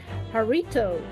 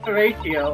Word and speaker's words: Horatio: Horatio, there's this Harito. I am not No, it's Haruto for- either. It is pronounced Horatio.